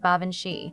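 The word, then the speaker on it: Baobhan Sith: Baoban Sith, he pronounced it like Bavanshi, and that reminded me of the name Banshee.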